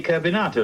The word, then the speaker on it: Carbonato: general's name that gentleman's name is simply carbonato like potato you mean kbon like